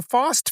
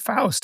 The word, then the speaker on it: Faust: sounds that Russian has, but the sound "aw" is not exactly in the Russian language.